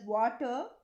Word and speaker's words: Watir: The fifth one is WATIR, which is pronounced as water in another tool to automate web browsers.